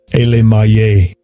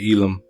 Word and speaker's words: Elam: Let's see how to pronounce it first. Strong's H 5867. Elam. Second entry. Elemaye. Elam. And you got the different people in the Bible that are named Elam. We say Elam.